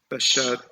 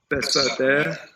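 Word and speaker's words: בַּשָּׂדֶה: Vayishma Ish et Yosef Bashad. This letter, sorry. Oh, yes. It's a sin, not a shin. Yeah. Besadeh. Besadeh, yes.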